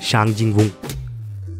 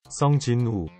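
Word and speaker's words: 성진우: Ongoing anime series solo levelling के main protagonist शांग जिंग वुंग, सही pronounce किया ना गूगल? सॉन्ग जिन वू।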